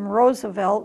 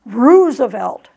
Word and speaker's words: Roosevelt: Dutch family that named Roosevelt and the fact that the double-o is pronounced oh and not rue some people in the